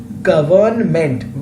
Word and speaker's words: government: The word should be government, but actually N is not pronounced and it is pronounced as government.